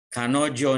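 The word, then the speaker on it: 彼女: Jadi ini kanojo. Kalau sebelah kirinya saja itu kare, dia laki-laki. Di sini lalu sebelah kanannya ini onna, perempuan. Jadi dibacanya menjadi kanojo, artinya dia perempuan.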